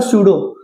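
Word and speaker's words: pseudo: ऐसे ही होता है सूडो। इसको सूडो भी बोलते हैं।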